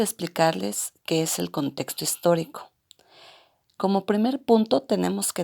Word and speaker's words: histórico: El contexto histórico, acento en la O, histórico, de las clases en